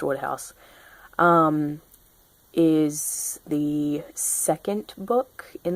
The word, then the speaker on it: Wodehouse: say it is um I think it's pronounced Woodhouse is the second book